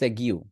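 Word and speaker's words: segue: এইটা উচ্চারণ করতে হবে এই ক্ষেত্রে আপনাকে এটা উচ্চারণ করতে হবে সাগিউ কি উচ্চারণ করবেন সাগিউ সাগিউ সাগিউ এটা মানে কি স্মুথ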